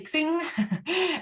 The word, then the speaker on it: Xing: Yeah, we Germans say Xing. And it was supposed to be like crossing, because that's how it's spelled.